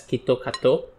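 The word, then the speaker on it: キットカット: But like over there in Japan, because of how they pronounce Kit Kat as Kitto Kato, they turn it into something like that.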